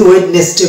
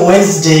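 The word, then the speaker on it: Wednesday: যদি ওয়েডনেসডে বলি তাহলে সেটা হচ্ছে রং প্রোনাউন্সিয়েশন, ভুল উচ্চারণ। তাহলে আমরা যেহেতু ওয়েডনেসডে বুধবার, যেটাকে বলা হয় বুধবার, বুধবারকে আমরা বলি ওয়েডনেসডে। এই যে ওয়েডনেসডে, এখানে এই ডিটা উচ্চারণ আসছে না।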